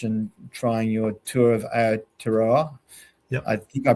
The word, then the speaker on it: Aotearoa: So if I don't get an entry, I'm thinking of going back across the ditch and trying your Tour of Aotearoa. Yep. I think I pronounced that correctly.